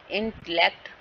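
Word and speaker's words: intellect: इंटेलेक्ट, marigold, ठीक है, इन पे होगा, मारी पे होगा एंड अल पे होगा रिस्पेक्टिवली।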